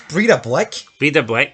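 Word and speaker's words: Breiðablik: Repronounce that? Breidablik. It's Breidablik.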